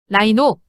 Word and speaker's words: rhino: 다음은 RH와 RRH.이 이 경우는 모두 r로 발음해 줍니다. RH와 RH 모두 R로 발음해 준다는 것 기억하세요. Rino rhinoa. Roia 라이노 라이노는 코를 의미하고 뒤에 전미사 리아는 흐르다로 라이가 흐르다는 의미에서 콧물이 됩니다.